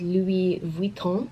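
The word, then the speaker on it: Louis Vuitton: E from now on I think the correct way to pronounce it is Louie Vuitton but the box comes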